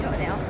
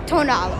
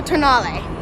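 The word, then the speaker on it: Tonale: new alfa romeo toenail which sounds like toenail but it isn't pronounced toenail it's tonal or tonali honestly i think this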